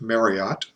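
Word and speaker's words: Mariotte: And the scientist, his name was that's short for Edmund Marriott, you would pronounce it Marriott.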